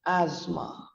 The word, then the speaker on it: asthma: in a wrong manner it's not asthma since it is it is pronounced as asthma the t and the h becomes absolutely silent it is known as